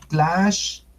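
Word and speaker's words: Tlaxcallan: Ese se pronuncia Tlaxcalan. Bueno, pero quedamos que íbamos a usar la K. Tlaxcalan.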